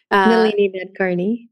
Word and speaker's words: Nalini Nadkarni: Dunham and, I'm always going to say her name wrong. Nalini Nadkarni.